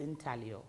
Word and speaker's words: intaglio: block printing in italio it's spelt intaglio but pronounced intaglio yes in size or intaglio no we're the relief block where the ears